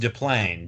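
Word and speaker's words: Des Plaines: of john wayne gacy it's a french name so the s is silent it's oh des moines pronounced de plaine to play in illinois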